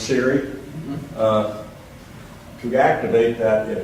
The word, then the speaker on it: Siri: you the uh Forest that's pronounced Siri uh to activate that